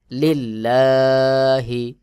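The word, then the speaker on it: لِلَّهِ: হি লিল্লাহি এখানে দেখুন আল্লাহ শব্দের লামের আগের হরফে জের রয়েছে এটা পাতলা করে উচ্চারণ করতে হবে যেমন লিল্লাহি আল্লাহু লিল্লাহি র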